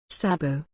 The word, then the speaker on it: sabot: no one seems to agree to a single pronunciation for. Sabot. Sabo, French. Sabo. Sabu.